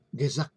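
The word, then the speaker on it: gezag: Nah, tadi yang pertama, Gezak yang pertama adalah karismatik Gezak ya. Harusnya kita membacanya Gezak ya, tapi ini kan susah ya lidah orang Indonesia ini. Ya, kita cukup Gezak sajalah ya membacanya.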